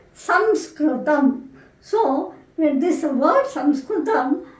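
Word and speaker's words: संस्कृतम्: that your colleges and not be pronounce as Sanskrit but this is correct pronunciation it should be kind of pronounced that some scrutam so when this word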